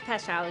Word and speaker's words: Pachow: Did I say it right? It's Pachow, yeah.